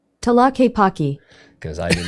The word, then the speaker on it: Tlaquepaque: guess it's a different town, and it is pronounced Tlaquepaque.